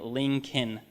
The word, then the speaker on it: Lincoln: was supposed to write put an L in his name that you don't pronounce like you don't hear there's no L in the name lien kin as you can see